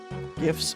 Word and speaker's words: GIF: A humorous infographic announcing the 2013 launch of a Tumblr account for the White House suggests pronouncing GIF with a hard G.